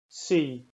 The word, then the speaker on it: sie: If you've ever studied Standard German, you might be tempted to pronounce this word like sie with a z sound instead of an s sound, and that's not Pennsylvania Dutch, right? And that's a big difference between Standard German and Pennsylvania Dutch. These words that start with an s in Pennsylvania Dutch are pronounced like an s.